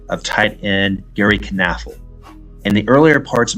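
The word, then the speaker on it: Knafelc: of tight end Gary canf in the earlier parts of my Packers documentary I was saying it as nafac however that is incorrect I reached out to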